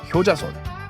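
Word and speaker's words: 효자손: One, hyojason magic back scratcher. In Korean, this is pronounced hyojason.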